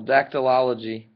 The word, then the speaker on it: dactylology: one sec 20y yeah I'm missing the syllable dactylology dactylology is sign language dactylology